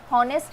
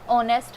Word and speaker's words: honest: कई लोग इसे अभी भी बोलते हैं कि हॉनेस्ट है। हॉनेस्ट नहीं होता, ऑनेस्ट होता है।